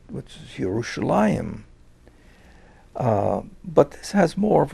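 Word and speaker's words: ירושלים: would have used originally people would have made an effort in the greek speaking world to pronounce the word the way the jews pronounced it which is yerushalayim but this has more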